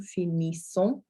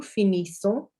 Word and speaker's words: finissons: So nous finissons, so we finish, nous finissons. So your NS, well, your N is an sound, and then your S on the end there is silent, as is often the case.